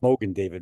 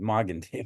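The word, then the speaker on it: Magen David: exactly what that means not Mogan David mgan David yeah Mogan David's the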